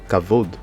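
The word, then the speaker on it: כָּבוֹד: Kavod, parce que là, nous avons la lettre kaf. Ensuite, nous avons le kamat ici, donc le son A. La lettre vet, nous avons le cholem vav, donc ça c'est un O. Et nous avons le dalet, donc on lit kavod, kavod.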